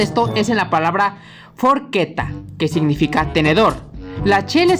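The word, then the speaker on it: forchetta: quiero de esa eh También quiero que noten algo en la última sílaba de la palabra forqueta tiene una doble consonante y en italiano se hará una pequeñita pausa Así que quedaría algo así de forgetta bueno no lo hagan tan pronunciado forqueta algo así otro ejemplo está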